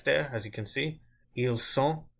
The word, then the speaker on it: ils sont: Ils sont, I didn't pronounce the T there. So what you really need